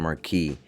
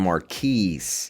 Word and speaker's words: Marquis: Today I'll be giving you guys my review on the 4th gen Grand Marquis. Not Grand Marquis, the S is silent and it's for slow.